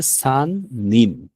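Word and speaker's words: 人: যেমন তাহলে এখানের উচ্চারণ হবে যে সান নিন।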